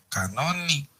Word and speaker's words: canónico: sería cuerpo de leyes canónico. ¿Cómo se pone? Canónica. Acento en la O.